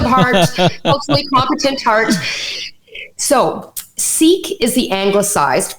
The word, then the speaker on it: Sikh: So Sikh is spelled S-I-K-H. Perfect. Okay. I am a Sikh. The same way we would say I am a Christian, I am a Muslim, I am a Sikh. And so is it Sikhism?